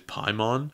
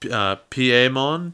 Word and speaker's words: Piemon: Piedmon's Japanese name is Paimon. Well, in the Japanese, it's actually pronounced Piemon, which is derived from Pierrot, which is French for clown."